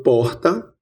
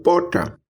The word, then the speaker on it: porta: Ouça, eu falo porta ou poca. Aqui no interior da Paraíba, como em boa parte do interior do Nordeste, temos a pronúncia de uma fricativa aspirada R.